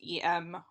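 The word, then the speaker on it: euh: is usually spelled just eem or with a lot of M's and then in French it's usually spelled EU and it's like e or I don't my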